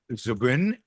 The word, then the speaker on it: Zubrin: Robert Zubrin. And let me know if I'm mispronouncing your name, Robert.